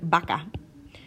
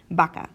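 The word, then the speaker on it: vaca: to be okay but oftentimes it's pronounced more like a bee especially when it's at the start of a word like the word baka baka which means cow baka so if you have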